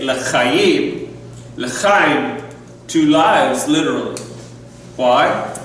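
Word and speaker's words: לחיים: say the morei pri chagafen, we don't say l'chai, to life per se. We say l'chayim, l'chaim, to lives, literally.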